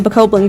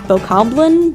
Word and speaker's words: Bokoblin: One of them is being attacked by a Bokoblin group. By the way, is that how you say it? I've heard it being said as Bokoblin, but I don't know, that's just how I've been saying it my whole life.